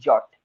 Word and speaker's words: J: को प्रोनाउंस करेंगे ई, और जो जे है, जे जंगल क्वीन वाला जे, इसको प्रोनाउंस करेंगे यॉट, यॉट, यॉट, यॉट।